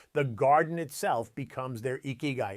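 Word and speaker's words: 生き甲斐: The Japanese call it ikigai, pronounced ikigai, and it means your reason for being, the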